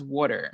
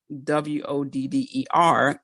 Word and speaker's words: water: "How do you pronounce water?" Because I'm from Philly, so I pronounce Philadelphians pronounce water as water, WODDER, not as WATER.